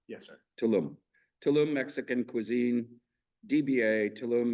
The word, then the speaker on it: Tulum: by devices indoors with Sunday hours am I pronouncing the name correctly Tulum yes sir Tulum Tulum Mexican Cuisine DBA tum Mexican Cuisine 3